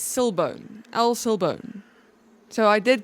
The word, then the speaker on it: El Silbón: El Google says Silbone. El Silbone. So, I did go and actually try and get the pronunciation and listen to it. It's El Silbone.